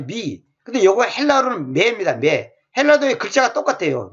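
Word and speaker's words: με: 매. 헬라어의 글자가 똑같아요. 매. 글자 모양은 좀 다릅니다만 발음이 똑같아요.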